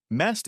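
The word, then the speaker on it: месть: Mest is the pronunciation of the word revenge in Russian.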